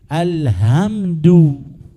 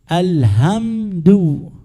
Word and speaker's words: الحمد: وعندكم أصحاب إندونيسيا تقولون الحمد الحمد الصلاة باطلة إذا قرأت الحمد فأنت أبدلت حرفا بحرف ولكن مشكلة الذي لا